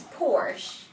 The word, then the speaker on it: Porsche: It's Porsche. It's an anglicized pronunciation that I will allow, but I was actually looking for you to scold you about that school project.